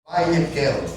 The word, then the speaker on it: Vayak'hel: Vaiel, né? Seria a pronúncia correta.